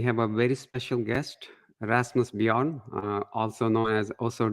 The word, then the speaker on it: Rasmus: and um today uh Rasmus is is that the right pronunciation of your name yeah yeah perfect so uh I just